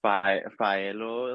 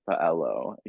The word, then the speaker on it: Faellow: I also wanted so many people to be able to pronounce it from different backgrounds too. Okay. Like Faellow, like you can still say it Mhm. like that, in Spanish, but Yeah. like you can also say like Faellow.